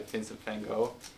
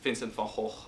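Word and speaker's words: Van Gogh: presented the sunflowers by Vincent Fango as I should say Vincent Fh which is you know his actual pronunciation and I got kind of butchered online for it.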